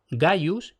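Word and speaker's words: Gaius: sin abreviar habían sido Gayus y Gnaeus, escritos con G y siempre pronunciado con G. Es decir, simple y llanamente, la primera consonante nunca se pronunció como K.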